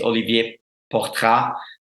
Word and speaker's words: Olivier Portrat: His name is Olivier Portrat. It's a French name, so I kind of pronounce that in French.